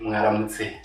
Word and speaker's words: mwaramutse: Oh, you know, when it is morning in Rwanda, we say mwaramutse.